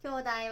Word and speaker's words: 兄弟: comme « 兄弟 » et lisez-le comme « kyou dai ».